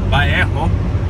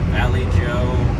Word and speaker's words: Vallejo: Or Vallejo, as it's properly pronounced. Valley Joe, Vallejo, Vallejo.